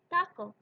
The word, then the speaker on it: taco: This sound is pronounced a little bit different in Spanish than in English. Same with taco, taco.